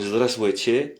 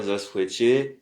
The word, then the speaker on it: здравствуйте: Alors, prononciation, salutation et politesse. Donc, bonjour, здравствуйте. Encore une fois, здравствуйте.